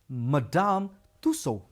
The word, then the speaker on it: Madame Tussaud: we haven't been to madame tussaud or the natural history museum yet that is how we pronounce it madame tussaud i hope we'll have